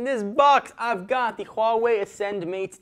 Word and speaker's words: Huawei: look at that how would you think you pronounce that if you don't have any idea like I didn't it is Huawei and they are hoping you're going to remember